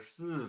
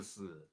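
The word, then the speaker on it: 四: Zhou R Si Si. Okay, it's a more like breathy si, more like a hissing kind of si. Zhou R Si Si. It's not like the Spanish si, yes, okay.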